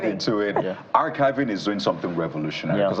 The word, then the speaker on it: Archivi.ng: He's the Executive Director, Archivi.ng. That's how to pronounce it.